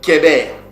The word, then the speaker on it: Héber: Het, parce que le Het a le son du K aussi. Donc, c'est pas Héber comme hébreu ou Héber qui a donné le mot hébreu, mais ici, c'est Kéber.